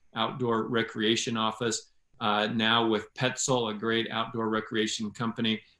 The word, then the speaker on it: Petzl: that aren't aware of who or what Petzl is it's it's spelled PE TCL it's not pretzel I wouldn't talk about